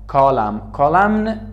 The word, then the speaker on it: column: column تلفظ نمیشه. column چون end age تلفظ نمیشه.